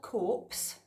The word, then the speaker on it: Corps: to encourage people to join the Signal Corps it's spelled corpse but it's pronounced call Signal Corps and their